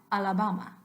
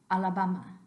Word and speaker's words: Alabama: this after me uh and now Alabama make sure all of those are identically pronounced Alabama Alabama now what's going to